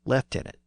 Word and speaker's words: lieutenant: He joined with Robert the Bruce as soon as Bruce was crowned as king, and he basically served as Bruce's main lieutenant, or lieutenant.